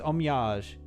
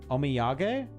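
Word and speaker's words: お土産: I thought they were trying to say homage, but no, it's omiage or omiyag. Oh, it's probably omiyag. Yeah, I'm Englishing the pronunciation of the word omiyag.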